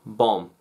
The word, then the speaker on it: bomb: how you spell it bomb it's got a silent letter in it silent letter no arguments bomb okay yeah so condemn